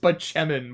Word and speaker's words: Spaceman: Leo Spachman. There is a character whose name is spelled spaceman, but it's pronounced Bachmann, played by Chris Bardell.